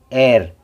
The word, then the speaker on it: air: तो मैंने क्या कहा, जब दो वॉवेल एक साथ आते हैं तो पहला वॉवेल बोलता है, पढ़ा जाएगा, दूसरा वॉवेल शांत और साइलेंट रहता है। तो AIR, एर, एर, आई की आवाज़ नहीं आ रही, एर, एर, AR, एर।